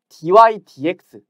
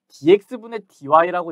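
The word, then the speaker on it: dy/dx: 있다 그랬어요 자 그런데이 DY DX 우리가 이거를 dx분의 dy라고 읽지 않고 DY dx라고 읽어요 분수가 아니고 분수는 아니지만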